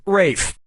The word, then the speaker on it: Ralph: this yeah ray Fiennes first name is spelled like Ralph but pronounced Rafe and his brother Joseph